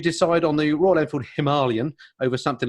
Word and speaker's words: Himalayan: They get upset if I say Himalayan. Okay. Yeah. Exactly. Yeah. I also say Himalayan because it's the way they pronounce it in India.